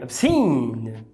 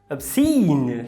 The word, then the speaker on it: obscene: Temos aí o O em sílaba átona, fraca. Eu sei que dá vontade de falar obscene. Com o O do português você está vendo o O. Mas por estar em sílaba fraca é o schwa.